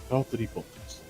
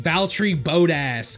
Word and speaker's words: Valtteri Bottas: It's Valtteri Bottas. Valtteri Bottas. You mean Valtteri Bodass?